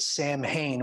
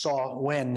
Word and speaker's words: Samhain: of we'd pronounce it Samhain but it's actually pronounced saw when in Gaelic and it means end